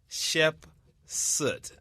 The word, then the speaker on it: Hatshepsut: It's Hatshepsut.